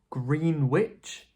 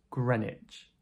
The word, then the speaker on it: Greenwich: This is Greenwich, like sandwich, right? But Greenwich? No, this is Greenwich, Greenwich, so ignore that W. This is pronounced Greenwich.